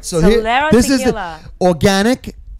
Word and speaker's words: Talero: And Talero Tequila. Talero. Talero. Am I pronouncing it wrong?